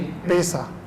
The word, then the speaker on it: पेशा: आप कहते हैं पैसा पेशा, दोनों में क्या डिफरेंस है? पैसा धन, मनी सर, और पेशा मतलब व्यवसाय। आपका शिक्षक का क्या प्रोनाउंसिएशन होगा इसका? शिक्षक का क्या होता है, पैसा या पेशा? सर एक पेशा है। पेशा। फिर प्रोनाउंस कीजिए इसको। जी सर, वापस रिपीट कीजिए। पेशा।